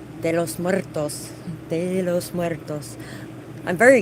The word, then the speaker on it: de los Muertos: it this morning and it was like Del los Muertos and they're like I am so sorry for the way I pronounced that and the whole time they were saying it I was just like de los Muertos de los Muertos I'm